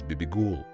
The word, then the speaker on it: Bibigul: music and music as BB ghoul the name of the singer and music as a twin which should be pronounced together her singing composition gaucha